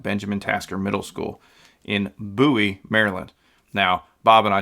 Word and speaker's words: Bowie: interviews it's not bowing it is pronounced buoy like Boo Halloween time buoy or like a buoy on the water that's for whatever reason